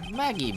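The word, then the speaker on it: Maggey: can call me maggie it's maggie but it's pronounced maggie but it's spelled magee that was when you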